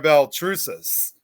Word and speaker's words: Baltrusis: Please welcome, of course, Sam Beltrus.